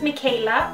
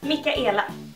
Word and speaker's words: Michaela: My name is Michaela or as it's pronounced here in Sweden, Mika.